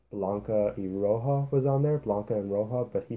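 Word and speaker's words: Blanca & Roja: name right uh blanca eroja was on there blanca and rojo but he pronounced it blanca and rosia and my little cuban heart just about cried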